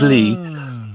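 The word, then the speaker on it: 이: But I subsequently married a Korean lady whose surname is E, which is pronounced Lee.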